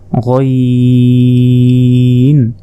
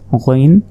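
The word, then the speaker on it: غين: এক নক্তা এটা হচ্ছে গাইন হলকের শেষ ভাগ হতে গাইন উচ্চারণ হয় এরপর উপরে এক নক্তা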